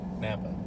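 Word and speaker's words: Knappa: a bpa epa kanampa napa i don't think it pronounced the k anymore gothenbury lake and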